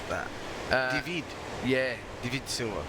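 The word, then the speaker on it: Deivid: do you pronounce that divid yeah divid Sila d e i v i d so the second part of it is vid for sure and Day Day Dei would be Dave yeah yeah it's dve that's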